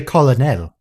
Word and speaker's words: colonel: I like how she doesn't know how to pronounce colonel. What do you mean? It's clearly colonel.